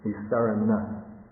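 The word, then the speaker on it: nissaraṇa: And the N with a dot under it, it's pronounced with the tongue against the roof of the mouth. Big difference. Can you hear Adinava, that N, and Nisarana?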